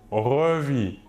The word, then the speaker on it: revit: ou elle ou on revit toujours la même chose le S et le t final de la terminaison ne se prononce pas mais s'écrivent passons maintenant au TR